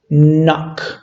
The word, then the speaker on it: knock: It happens here the same with this verb that starts with K and N. So we pronounce knock, knocked, and knocked.